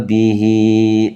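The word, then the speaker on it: بِهِۦ: Jadi cara bacanya ha ini ketika dia kasroh itu harus dibaca panjang. Jadi kafa bihi, tidak boleh teman-teman kok bacanya di sini pendek.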